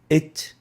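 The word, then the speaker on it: ت: It is how we pronounce the ta.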